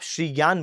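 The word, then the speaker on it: श्रीज्ञान: ज्ञानपीठ पुरस्कार तो वैसे ये अतीसा दीपांकर श्री ज्ञान है तो अगर आप इसका सही में सही उच्चारण करना चाहते हो तो आप श्री ज्ञान बोलो ठीक है तो यहां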